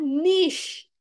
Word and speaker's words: niche: Oh ini bacanya niche. Niche itu artinya sama dengan specific. Biasa ini dipakai untuk konteks market. Misalnya niche market. Oh dia market yang spesifik. Ada kelompok tertentu. Itu niche ternyata bacanya.